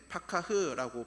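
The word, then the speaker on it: פָּקַח: 여기 밝히다로 쓰인 히브리어는 파카흐라고 발음을 하는데 닫혀있던 눈을 열어준다라는 뜻이 담겨져 있는 단어입니다.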